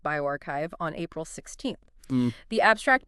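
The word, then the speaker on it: bioRxiv: It's a preprint just hit Biosaurf that's pronounced bioarchchive on April 16th.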